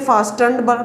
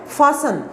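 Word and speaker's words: fastened: अब देखिए आप स्पेलिंग्स पे गौर करें, इसको कई बच्चे फास्टन्ड पढ़ लेंगे, फास्ट के स्पेलिंग के साथ बनाया गया है ये वर्ड, लेकिन ये वर्ड है फासन।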